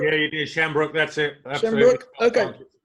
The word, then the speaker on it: Shambrook: Did I pronounce that right? Shambrook? Yeah, you did. Shambrook, that's it.